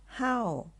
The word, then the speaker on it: 好: เสียง ว่า เห่า แล้ว ยัง ออก เสียง ได้ อีก เสียง หนึ่ง ก็ คือ คำ ว่า How เป็น เสียง ที่ 4 ค่ะ How How หรือ ว่า